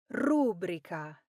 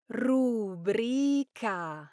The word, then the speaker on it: rubrica: The correct pronunciation is rubric. Now the stress falls on the second syllable rubric and the reason goes back to its Latin roots. Of course, this word comes from rubricam, which referred to a type of red clay that medieval scribes used to color headings, initial letters, and lists in manuscripts. But many Italians pronounce it as rubrica, putting the accent on that first syllable, rubric.